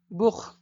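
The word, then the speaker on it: Buch: বুখ, উ আছে, এখানে উ আছে তাই এভাবে এরকম উচ্চারণ হবে, বুক।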